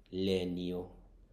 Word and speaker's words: legno: একটা শব্দ আছে নিয়, সেই নিয়টার মতো উচ্চারণ হয় লেনিও, লেনিও।